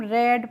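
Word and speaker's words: read: और second form को हम रेड पढ़ते हैं। क्या पढ़ते हैं? रेड। तो सेकंड का प्रोनाउंसिएशन हो जाता है रेड। और रेड का मतलब होता है पढ़ा। और थर्ड का भी प्रोनाउंसिएशन हम किस तरीके से करते हैं? रेड करके ही करते हैं।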